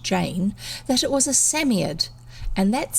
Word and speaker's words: Psammead: robert anthea and jane that it was a samiad and that's spelt p-s-a-m-m-e-a-d or sand fairy fairy and then she's got written here samia is pronounced sammy ed there you go it was very oh it